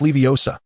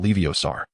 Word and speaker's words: Leviosa: It's Leviosa, not Leiosar.